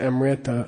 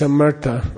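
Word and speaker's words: amṛta: called what in sanskrit a Mirta okay people mispronounce honest Amrita I don't know why it's a murder okay Merc comes from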